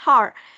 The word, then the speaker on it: hour: Oke, jadi teman-teman kalau tadi saya notice hour itu hanya hilang ya, kita bacanya cuman hour aja. Hour gitu, salah ya, kita bacanya cuman hour, hanya hilang.